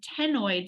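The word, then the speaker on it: ctenoid: darters have are called tenoid scales it looks like a c it starts with a C but we pronounce it tenoid scales so simply meaning when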